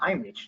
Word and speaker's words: Heimlich: En realidad se pronuncia Heimlich, ¿no? Es una palabra alemana.